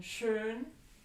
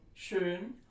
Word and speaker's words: schön: Now we have Ö as in schön, and that is spelled with an O umlaut as in schön, or an O umlaut plus an H as in Höhle.